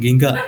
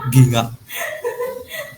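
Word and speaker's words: 銀河: Nah itu dulu mah bukan gingga tapi ginga, ginga.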